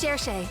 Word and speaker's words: Cherche: My name's Cherche. I look forward to participating in this unique festival. There you go. There you have it, guys. It's not church. It's not Cherche.